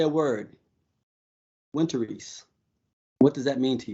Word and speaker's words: Winterreise: Winteries. What does that mean to you? Well, I'll give you the German pronunciation of it, Winterreise.